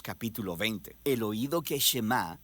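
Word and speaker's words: שמע: es Oye o escucha Y en hebreo se pronuncia shemá de ahí es de donde viene el nombre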